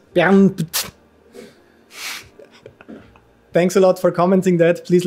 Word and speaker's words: Bernth: So it actually would be BERNTH, but you can also say BERNTH if you prefer that.